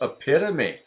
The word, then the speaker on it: epitome: Yes, epitome, not epitome.